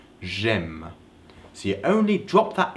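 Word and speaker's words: J'aime: I like you say you don't say JM because it's hard to pronounce so that's why that apostrophe is there so it's easier to pronounce Jim so you only drop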